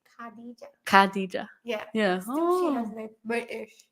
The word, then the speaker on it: Khadija: Kad oh Kad no not Kad say Kad Kadija yeah yeah she has British yeah well you